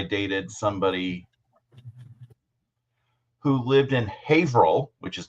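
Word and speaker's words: Haverhill: When I when I was living in Massachusetts, I dated somebody who lived in Haveril, which is not spelled the way it's or it's not pronounced the way it's spelled.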